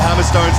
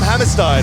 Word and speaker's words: Hammerstone: lot of confusion about hammerstone's name a lot of people call him Hammerstein as we'll uh discussing